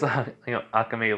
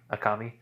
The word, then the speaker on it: Akame: As, Akame laughs at this. Akami.